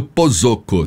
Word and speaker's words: Posocco: Pronunciei corretamente seu nome? Pozzocco. Quase, bateu na trave. Bom, eu estava aqui na Pozzocco, não, vamos falar corretamente. Pozzocco, tá certo.